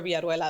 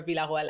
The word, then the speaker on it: Villarroel: Alexandra Villarroel Abrego. That's with the Spanish pronunciation. I can also say just English, Alexandra Villarroel Abrego.